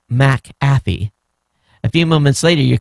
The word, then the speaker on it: McAfee: mc is a prefect it's pronounced separately so the c is not added to the second syllable that means mcathy is pronounced mac affy a few moments later